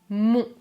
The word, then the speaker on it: mon: Je prononce mon, mon. Les lèvres sont arrondies. Mon, mon.